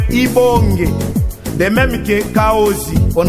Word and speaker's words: Kibonge: C'est comme qui dirait, moi je m'appelle Kibonge. Je ne peux pas dire, on ne peut pas m'appeler Kibonge. Chez nous les Emba, on appelle Ibonge.